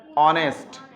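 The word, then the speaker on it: honest: যদি শব্দের শুরুতে থাকা এইস এর উচ্চারণ সাইলেন্ট থাকে, সাইলেন্ট কেমন থাকে? অনেস্ট।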